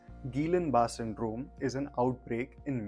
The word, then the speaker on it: Guillain-Barré: or Gillan bar syndrome or more correctly pronounced as Gillan bar syndrome is an outbreak